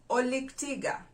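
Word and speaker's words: olik tiga: bat in the luau oleg tiga oleg tiga oleg tiga refers to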